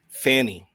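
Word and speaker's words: Pfannee: Bow and Yang was I don't know how to pronounce that character's name. Fanny.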